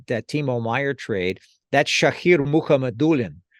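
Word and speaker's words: Shakir Mukhamadullin: Timo Meyer trade that's shahir muhammadulin and again the accent on the second to last syllable um he's an interesting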